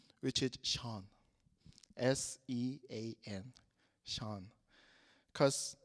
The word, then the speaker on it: Sean: Sean. Oh? Sean.